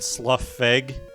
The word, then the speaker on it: Slough Feg: name of the band itself the Lord weird Slough FEG that's how you pronounce it and their album Traveler